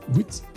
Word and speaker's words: Ruth: C'est Ruth, parce que le U, ça prononce OU en hébreu.